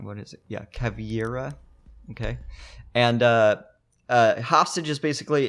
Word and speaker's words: Caveira: Probably always pronouncing her name wrong. What is it? Yeah, Caveira.